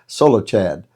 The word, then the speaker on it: Zelophehad: Now, if you look at that name, it doesn't look like it'd be pronounced that way, sort of like Chapatulas if you're from New Orleans, Zelophehad, but it begins with a Z.